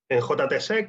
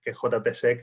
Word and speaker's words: JTSEC: En JTSEC o JTSEC, nosotros lo pronunciamos en inglés porque bueno, pues tenemos un fuerte componente internacional.